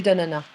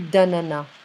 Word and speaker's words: d'ananas: So some French, they like to pronounce the S, and in general, we don't really do that. You know, it's more like du jus d'ananas. Du jus d'ananas.